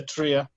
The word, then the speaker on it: Trelle: I believe it's closer to like the word tree. You can put a little on the end, tria. There we go. Alain de la Trelle.